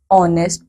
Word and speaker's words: honest: B, an honest person. C, an heir. बच्चों यहाँ पे हो क्या रहा है? We have used an before these words too because H is silent.